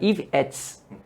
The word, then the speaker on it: Ivettes: Por que pronuncia desse jeito? Porque et é uma partícula que quer dizer com. Então era com Ives, então era Ivettes.